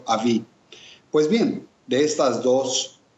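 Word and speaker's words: אבי: el prefijo del padre padre en hebreo se escribe con una alef y una bet por lo tanto se pronuncia AB y también cuando se hace una referencia de mi padre se eh le acompaña con una letra yod y por lo tanto se conforma el vocablo Avi Pues bien de estas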